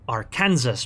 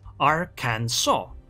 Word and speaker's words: Arkansas: up fighting the ships that i read as arkansas betas however the comment section helpfully pointed out that no i was mistaken it is actually pronounced ar can saw right is enough arkansas no problem that makes